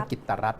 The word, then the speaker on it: กิจรัตน์: ว่า กิจรัตน์ หรือ กิจรัตน์ ให้ อ่าน ว่า กิจรัตน์ นะ ฮะ พล ตำรวจ เอก กิจรัตน์